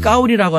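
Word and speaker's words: 高丽: 시진핑 주석이 만나기 전에 7인자인 장까오리 그 사람의 한자 이름이 우리의 고려시대의 고려랑 같습니다. 발음을 까오리라고 하는데 나는 까오리 고려라는 이름을 갖고 있어.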